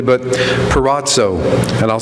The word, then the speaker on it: peirazo: probably not pronounce this Greek word correctly, but peirazo, and I'll spell it for you, P-E-I-R-A-Z-O, which means several things.